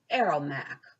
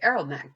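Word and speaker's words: ARAOMC: we'll talk about is called arrow mac or a-r-a-o-m-c and that stands for anti-racism anti-oppression multicultural and people say arrow mag to pronounce it the next one that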